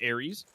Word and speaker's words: Ares: But, you know, getting confirmation, though, it is Ares. And they're going off of, you know, the God of War Ares.